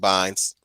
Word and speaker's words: Bynes: thank you, Amanda Bynes or Beans, how you pronounce her last name. We all know me and Scooner pronounce it Bynes.